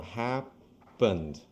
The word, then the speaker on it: happened: Remember when if the original verb doesn't have a T or a D at the end, it's going to be just like it's one syllable. So happened. Happened. Yeah, What happened?